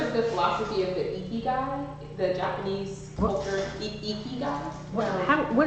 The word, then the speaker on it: Ikigai: Yeah, Ikigai. Ikigai is how it's pronounced.